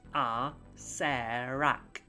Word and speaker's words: Acererak: In the pronunciation guide, in Tomb of Annihilation, it says it's pronounced Acererak, which means that the guy at the end must be called Rarak.